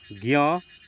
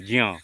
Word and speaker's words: ज्ञ: ज्ञ का शुद्ध उच्चारण और निर्माण आधा ज और ञ से होता है। हालांकि आधुनिक बोलचाल में कुछ लोग इसे ज्ञ की तरह पढ़ते हैं। अधिकतर लोग पढ़ते हैं ज्ञ की तरह। लेकिन शुद्ध उच्चारण क्या है? ज्ञ।